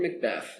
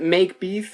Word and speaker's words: Macbeth: And it's Macbeth, that's the pronunciation? Yep. Okay, nothing, not make beef or...